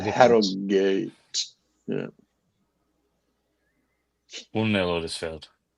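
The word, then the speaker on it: Harrogate: So yeah though Harogate they've got they you pronounce the H in Harriate don't you? That's a good Harate.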